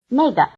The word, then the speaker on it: 那个: 这个，这个，这个， It may be helpful to remember that the answers 这个 this, 这儿 here, 那个 that, and 那儿 there are all in the falling tone, while the questions 哪个 which and 哪儿 where are both in the low tone.